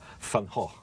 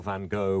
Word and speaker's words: Van Gogh: You call Van Gogh, we call Van Gogh. I know you do, I know. And in the play, you learn that his real name, which he says nobody can pronounce, is Van Gogh.